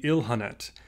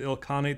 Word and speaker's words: Ilkhanate: I was recently listening to a lecture, and the speaker referred to the Ilkhanate as the Ilhanate. And that is probably the more correct pronunciation. I'm going to stick with Ilkhanate, though, as this is